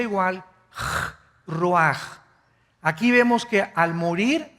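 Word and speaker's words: רוח: El ruaj que se escribe r u a c h ruach en el hebreo y se pronuncia igual roj.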